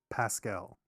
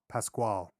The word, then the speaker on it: Pascal: He's got his co-star is Pedro Pascal. Is that how you say his name? Yes. I think so. Pasquale.